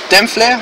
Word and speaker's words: Dempfle: we want to know exactly how your name is spelled holy spell ok my name is dem phlegm so it's very interesting because it's gets bad